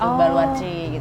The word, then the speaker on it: Baluarte: Jadi dari kata Portugis gitu, Baluarci gitu. Baluarci. Iya, Baluarci. Tulisannya sih Baluarte ya. Oh, tapi bacanya Baluarci. Baluarci gitu ya.